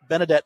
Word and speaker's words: Benedet: After former player, and Nick, you might have to help me with the pronunciation here, Theo Benedette. Benedette nailed it, made a crucial rookie mistake.